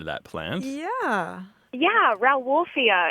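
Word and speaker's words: Rauwolfia: that plant yeah yeah R wolfia it's spelled r o w and then like like wolf and then I a yeah it looks like ra like Rafia comes from the name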